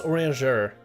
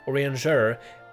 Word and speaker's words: Urianger: I think it's Urianger. You gotta like give it a French spin. Urianger.